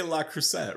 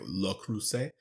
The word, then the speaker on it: Le Creuset: I always say La Creuset, right? But I know that's wrong. So I think there was like a TikTok where they said it right. And it was like Le Creuset.